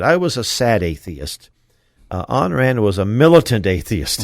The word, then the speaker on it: Ayn: He knew Ayn Rand, and I hope I'm pronouncing Ayn, not Anne, Ayn Rand.